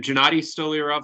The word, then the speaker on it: Gennady Stolyarov: if you want to tell us the proper pronunciation of your name out there for everybody I'm Gennady stolirov II it's easier for him to say than